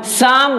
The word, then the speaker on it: Psalm: चलिए शुरू करते हैं 10 शाम ऑफ लाइव शाम देखिए इसमें पित्त और यह साइलेंट रहेगा हम पढेंगे इसको सामने 10 शाम